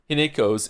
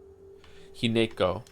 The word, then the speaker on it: Hinako: Hineko. Didn't they say Hinako at some point though? I remember it being pronounced without the ne.